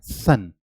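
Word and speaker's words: sun: नीचे जा रहा है, जबकि सन को बोलने में, क्योंकि एस के साउंड है, एस के बहुत साउंड है, एस का ये जो साउंड है वो क्या है, सा है। तो सा बोलने के लिए आपको टंग को ऊपर को टच करना पड़ेगा, सन, यानी कि अपर, यानी कि अंदर का जो टीथ है आपका, अपर पैलेट है, वो टच करना पड़ेगा, तभी आपकी साउंड निकलेगी। सर क्या कहते हैं, सन, ओके।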